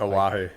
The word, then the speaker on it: Oahu: How do you pronounce that? Oahu.